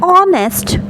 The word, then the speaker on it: honest: here the word starts, the first alphabet of honest is H, because I told you that we need to focus on the pronunciation, and it's like honest, the sound is O. That's the reason but we have to focus on the sound, and it's sounding o sound, honest sound.